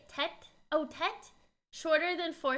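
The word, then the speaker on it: Tết: Oh, Tet? Shorter than four syllables, Lunar New Year.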